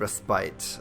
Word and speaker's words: respite: So, this is the house of respite or respit, depending on how you want to pronounce it.